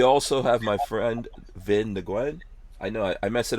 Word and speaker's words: Nguyen: And, like, when I went to high school with someone, and they're like, oh, you have to pronounce that NG part as Eng. So they would do, like, Nguyen or something like that, so.